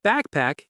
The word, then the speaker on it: backpack: The word backpack is backpack. Two syllables, equal stress.